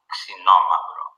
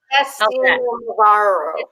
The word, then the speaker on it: Xinomavro: It comes from the word Xeno, which is sour, Mavro, which is black.